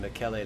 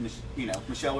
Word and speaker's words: Michele: It looks like Michelle. It does. It's spelled like Michelle. I was going to have to ask when I came here today. I was going to, okay, how exactly? Because I would have just said, Michelle or Michael.